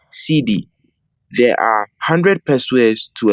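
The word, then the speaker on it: cedi: of currency in Ghana is a city pronounced CD there are 100 persuas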